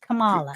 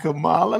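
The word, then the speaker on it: Kamala: in San Francisco that what we called her Camala Camala look you can't you to you can't say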